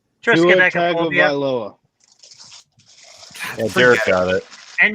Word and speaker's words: Tagovailoa: How do you pronounce his last name? Tua Triskaidekapobia. Tagovailoa.